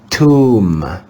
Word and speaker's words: tomb: letter b is silent in the digraph m b the letter b is silent tomb we have to be